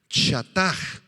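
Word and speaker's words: חטא: la palabra hebrea chatar chataj así como suena chá tta con acento en la segunda a chataj y significa equivocar el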